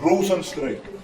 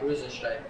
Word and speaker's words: Rozenstruik: How do you Problem, pronounce I'm that? joking. Jairzinho Rozenstruik. Losing. Don't worry about it. Don't worry about it. I was joking. Hey, no, I want to learn. Rozenstruik. What is it? Strike. Rozenstruik.